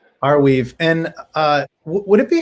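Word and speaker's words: Arweave: never known how to pronounce it yes it's pronounced our weave our weave and uh would it be fair to compare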